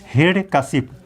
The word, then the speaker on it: हिरण्यकशिपु: हम भले ही कहते हैं लेकिन कश्यप शुद्ध उच्चारण शुद्ध लिखता कश्मीर म कि हिरण्यकशिपु है कि यह इसका शुद्ध लेखन और उच्चारण